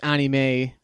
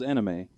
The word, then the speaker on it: anime: You're not going to watch anime unless you're looking for it. I thought it was anime. Why do you say anime? Anime is the Japanese pronunciation.